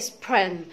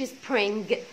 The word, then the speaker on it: spring: الار في الحلق فتقول سبرين سبرين. وليه بقى ما قلتش سبرينج؟ لانه في قواعد في الانجليش طبعا ثابته ولازم ان احنا نلتزم بيها، انه حرف الجي لا ينطق وخصوصا لما يكون في اخر الورد.